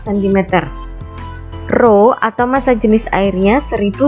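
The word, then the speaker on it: ρ: Jadi untuk simbol ini dibacanya adalah Rho. Saya ulangi, pH sama dengan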